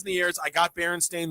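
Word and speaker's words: Berenstain: It's actually spelled as if it were pronounced Baron Stain. A I N instead of Steam and there's um there's the I used to love that book.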